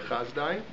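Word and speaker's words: Hasdai: Sometimes it's pronounced Chazdai. Different historians either pronounce it Chizdai or Chazdai.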